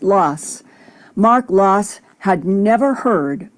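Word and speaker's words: Laas: the past half century their last name is spelled l a a and pronounced loss mark loss had never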